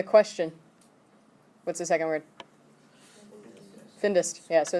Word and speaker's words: findest: Findest.